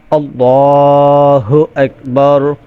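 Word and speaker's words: اللهُ أَكْبَرُ: শিখে নেবেন তো দেখেন আল্লাহু আকবার আল্লাহ আমর জবর আর লাম জবর লা আল্লাহ আল্লাহ বললে ভুল হবে বলতে হবে আল্লাহু হা পেশ হু আমর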